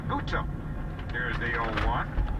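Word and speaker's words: Butto: Added emphasis on the second syllable there for a reason, because since we saw this kid for the first time last year in Philadelphia, we've all been calling him Jose Buto.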